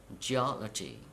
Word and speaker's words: geology: and now through the for the words ending with C Y T y ph Y and G Y please count syllable from the end of the world and at the third syllable you have to stress for example democracy democracy